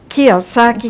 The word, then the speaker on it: Kiyosaki: Am I pronouncing it correctly? Thank you. And it's Kiyosaki. Kiyosaki.